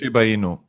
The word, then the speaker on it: Shiba Inu: Um, Shib is pronounced Shiba Inu. Shiba Inu.